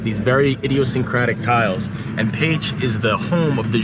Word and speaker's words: Pécs: the city of page peach you might think it's spelled pecs i did too when i first got the hungry but it's pronounced paige you can see the first hints of the